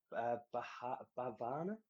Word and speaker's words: Bhavana: Brewery Bavana. I don't know how to pronounce it. It's Bhavana.